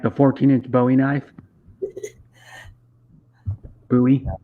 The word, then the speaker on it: Bowie: Bowie. It's actually called a Bowie knife. That's how you pronounce it.